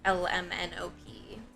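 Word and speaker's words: Ella Minnow Pea: in the book lmnop which is spelled ella like the name minnow like the fish and pee like the vegetable but obviously it sounds like lmnop because oh no it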